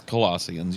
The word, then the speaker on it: Colossians: So let's start with, how do you say this, Colossians? Or Colossians? It's Colossians. You had it.